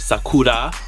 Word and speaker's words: Sakura: Sakura which is Sakura I'm saying it how you should properly say it Sakura because in Japanese the RS are pronounced as um else once again I took